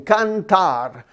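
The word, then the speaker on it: cantar: toe with your shoes what about the word sing sing kantar kantar sounds like a can of tar can tar maybe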